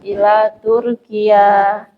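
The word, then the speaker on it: تركيا: Untuk Turkia negara-negara yang berakhiran dengan ya itu kasrahnya nanti enggak muncul ya. Kasrahnya tidak muncul. Ada kasrahnya tapi enggak kelihatan gitu. Jadi pengucapannya tetap ila Turkia.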